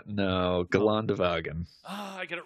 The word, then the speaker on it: Geländewagen: Geländewagen. No, Geländewagen.